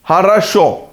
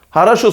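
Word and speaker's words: хорошо: edildi bulmak zor olabilir haraşo sözcüğünde vurgu son hecede olduğundan dolayı diğer oar a olarak telaffuz edilmektedir bunun yanında haraşo sözcüğünde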